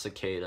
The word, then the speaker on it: Cicada: It's pronounced cicada.